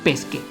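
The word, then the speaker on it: pesche: se pronuncia pesca pese no debería sonar como pesque Pues sí así que su plural sería PC Así que sonaría pesque Pero bueno otro ejemplo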